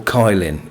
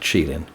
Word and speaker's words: Kylin: Or Kylin, if you want to say it how it's phonetically written. But it's pronounced Shieling.